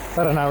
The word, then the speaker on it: Paraná: You wouldn't think of that with a landlocked country, but there's a major river, Rio de Paraná, it's pronounced, Paraná River.